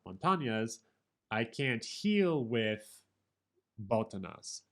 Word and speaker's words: botanas: translates this as snacks it was botanyas b-o-t-a-n-a-s botanias rhymes with montagnas although i don't think so because i the end in montana has the tilde above it so i think it's more like botanas and montagnas let's listen to somebody